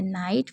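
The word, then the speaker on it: night: एक नोट करने वाली बात है कि जिन शब्दों के अंत में जीएसटी होता है उसमें जीएच को साइलेंट रखा जाता है, जैसे नाइट, फाइट, माइट, बहुत सारे हैं।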